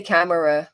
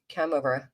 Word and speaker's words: camera: I say camera with two syllables, not three. Camera.